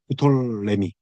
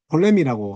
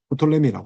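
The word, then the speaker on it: 프톨레미: 이집트의 부톨레미, 톨레미라고 하지만 부톨레미라고 합니다. 푸가 발음을 할 수도 있고 안 할 수도 있는 건데 어쨌든 이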